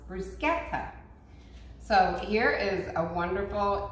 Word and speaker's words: bruschetta: We do say bruschetta. And I have learned from our viewer, thank you so much, that this is actually pronounced bruschetta.